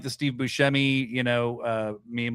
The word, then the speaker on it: Buscemi: And he said Buscemi. And I'm like, your name's been Steve Buscemi this whole time, and everybody pronounces it wrong?